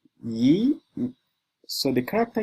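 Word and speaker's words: 一: So let's see the last tone rule and it says the character ye remember that this is how you pronounce it ye.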